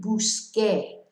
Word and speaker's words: busqué: So, empecé, jugué, same with busqué, changes to a Q so that we have the que pronunciation.